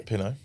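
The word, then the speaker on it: Pinot: Pino. Is that how you say it? Yeah. Pino.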